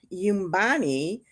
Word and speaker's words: Nyumbani: And it's called Yumbani. That's spelled Nyumbani and parentheses home, which is the meaning in Kiswahili, and then colon a travel memoir.